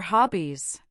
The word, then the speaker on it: hobbies: Listen carefully, what are your hobbies? The word hobbies has a short O sound, like habis.